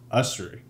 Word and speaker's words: Ussary: We got Brent Ussary.